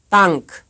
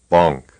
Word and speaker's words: Bank: Here's a word for a type here's a word of a type that is often mispronounced by a speaker of English. You will first hear it right and then wrong. Bank, Bonk, Bank, bonk.